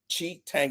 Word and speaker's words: Tshitenge: My name is Tshitenge. Tshitenge, it's how you pronounce it.